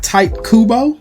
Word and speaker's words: Tite Kubo: Created by Tite Kubo, God please let me pronounce that right, aka the guy who wrote Bleach.